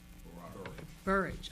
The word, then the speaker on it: Bourrage: Bourrage, okay. And I'm not going to try. I want to mispronounce.